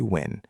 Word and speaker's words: Nguyen: In English, people usually say Win."